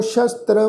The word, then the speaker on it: शस्त्र: वा इंज आखा भी दोनों सस्सियां के पैर च बिंदी लगा के पाठ उच्चारण करांगे शस्त्र।